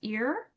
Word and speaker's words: ir: Usually that ir is pronounced ear.